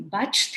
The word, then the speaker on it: Bach: amazing to read shavani is a back therapy batch therapy as they call it there are various renunciations for it it's spelled bach and she works on batch flower